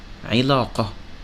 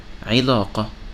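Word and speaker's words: علاقة: When it has kasra, it sounds as like the word ilaqa, ilaqa, which means relationship. When it has dhamma, it sounds like the word unf, unf, which means violence.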